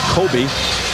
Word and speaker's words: Kobe: steak and there's a sort of steak that is popular in Japan coob steak coob be and eventually after they took the name from that k o people started pronouncing it Kobe and that's what stuck either way it's just